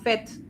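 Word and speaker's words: fait: Amina now you have yes you have to pronounce the t because it means in fact it's not it's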